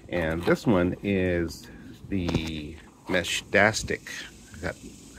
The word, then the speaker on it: Meshtastic: So we are start of in a row today, looking at other devices, and this one is the Meshtastic. That's how it's pronounced, Meshtastic kit.